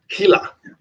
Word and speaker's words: Gila: I think the G is silent. Gila, like the Gila monster.